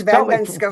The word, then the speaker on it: Van Benschoten: It's Van Benschoten. Pronounce it properly.